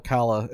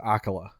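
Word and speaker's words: Akkala: to the akhala region the one that I thought was called akala until um and Hyrule Warriors um they all pronounce it akola which doesn't make any sense to me but okay uh that's apparently what they were told to say well I said I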